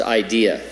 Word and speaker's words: IDEA: Institute for Democracy and Electoral Assistance, pronounced IDEA.